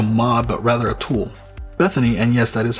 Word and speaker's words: BethINI: BethINI, and yes, that is how it's pronounced, is a tool you can download to